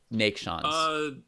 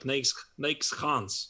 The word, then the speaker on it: Neiksans: So the S should be, but the first S should be some kind of a sh.